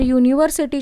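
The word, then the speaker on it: university: तुम्ही लक्षात घेतला पाहिजे यूनिवर्सिटी या स्पेलिंग च सुरुवात जरी यनी होत असली तरी याचा उच्चार वाय य यूनिवर्सिटी अस म्हणतात त्यामुले त्याच्या आधी ए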